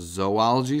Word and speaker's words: zoology: list of some of them here this is pronounced zoology it's not zoology but zoology what do we